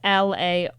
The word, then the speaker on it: LaRocchia: And that's LAROCCHIA. I love you. You spelled it right. John And I pronounced it right.